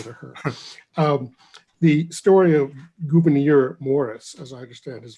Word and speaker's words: Gouverneur: The story of Gouverneur Morris, as I understand his first name is pronounced, is he and Hamilton were having an argument one day about Washington.